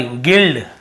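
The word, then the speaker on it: guild: जी आई एल डी, यहाँ पे गाइड, sorry गिल्ड, गिल्ड लिखा हुआ है, क्या लिखा हुआ है? गिल्ड, देखिए गिल्ड, यहाँ पर भी हम यू को नहीं पढ़ रहे हैं।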